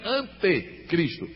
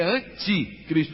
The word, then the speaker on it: anticristo: Agora o anticristo não é antecristo, é anticristo, quer dizer, totalmente contrário a Cristo.